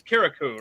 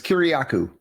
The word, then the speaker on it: Kiriakou: Did I even pronounce that right? It's Kirikou, right? Did I get that right? Yeah, very, very close. It's Kiriakou. I knew I was missing a syllable in there.